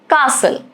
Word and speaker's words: castle: Castle, silent T again.